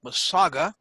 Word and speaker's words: Mississauga: Presiding officer, ladies and gentlemen, they are Aureon Energy, which is located in a smaller city called Mississauga. The U in that term is, or that word is silent, immediately west of Toronto, Ontario, Canada.